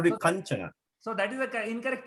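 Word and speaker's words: काञ्चन: So kanjana. Should be kanjana. No, the pronunciation is Kanchana only.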